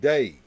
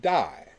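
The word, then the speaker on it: Dai: the day all of his friends called him day and he spelled his name d AI when he would write it down day Vernon but everybody looked at D Ai and pronounced it die so whenever a magician oh you going to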